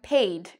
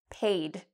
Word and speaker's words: paid: And we have paid. Okay, so this is not pronounced like said. It looks like said, but it's not pronounced like that. It's pronounced paid.